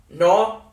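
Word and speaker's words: नौ: No, like Norway.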